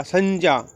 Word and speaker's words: संज्ञा: जो संज्ञा के स्थान पर आए, संज्ञा, बार बार बताया मैंने, उच्चारण ठीक करें, संज्ञा नहीं होता, संज्ञा।